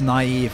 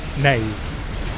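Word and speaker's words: naïve: like an umlaut, but it indicates that the vowel is pronounced separately from the rest of the surrounding vowels, which is why it's naive and not naive. And not nave.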